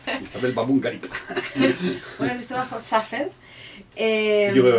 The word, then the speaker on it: Baboun: ¿Cómo se pronuncia? Isabel Babungarip.